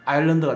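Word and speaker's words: island: S는 또 계속해서 묵음이 됩니다. 이곳 서 있는 땅이라는 뜻이죠. 그래서 이 서 있는 땅에서 아일랜드가 됐어요.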